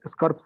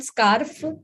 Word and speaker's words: scarf: scarf, singular, scarf, scarves. Don't don't pronounce R. I told you it's not scarf, it's scarf.